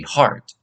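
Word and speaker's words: hart: grown male deer is known as a heart h a t um which phonetically is identical to the normal word heart that we know h e a r t and um that's very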